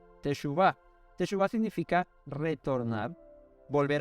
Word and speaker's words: teshuvá: arrepentidos viene de una palabra hebrea que se pronuncia teshuvá techuvá te suba significa retornar Volver al original o